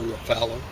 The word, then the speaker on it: Ruffalo: going to talk about Mark Ruffalo or Ruffalo. I would say rhyming with buffalo, but uh he's I think um He hangs out way on the left wing.